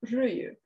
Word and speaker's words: ryijy: And one of those is another traditional form of weaving in Finland, which is known as ryijy.